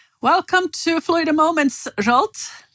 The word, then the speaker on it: Zsolt: floyd a moments jolt did i say your name correctly yes that is correct paulo now thank you for saying it yes correctly but you're used to finnish people pronouncing it a little bit wrong aren't you so well i heard all sorts of pronunciations like slot and salt and pepper you know so i'm